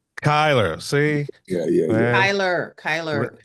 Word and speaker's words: Cyler: I'm pronouncing everything right, Yes. right? It's R.J. Kyler. Kyler, see? Yeah. Man. Kyler.